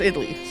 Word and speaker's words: idli: Idli is pronounced idli, so idli plate, towel, cooker.